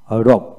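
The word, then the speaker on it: rogue: লক্ষ্য করেন এখানে যেমন ওয়ার্ড এর মধ্যে জি ইউই থাকলে এক্ষেত্রে ইউই এর উচ্চারণ হবে না, অর্থাৎ জি ইউই থাকলে জি এর উচ্চারণ হবে। যেমন আর ও জি রগ রগ, আর ও ইউ জি, আইপিএ সাউন্ড হচ্ছে আর ও ইউ জি রোগ রোগ। তারপর আসেন back BAG back, বিইআইজি back back.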